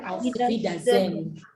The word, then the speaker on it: auf Wiedersehen: So in German, you say auf Wiedersehen. Can you say auf Wiedersehen? Auf Wiedersehen. Auf Wiedersehen. Auf Wiedersehen. These are three words, auf, wieder, and sehen. When you pronounce them together, we say auf Wiedersehen.